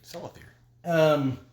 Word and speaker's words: Celathir: K. It's supposed to be an S.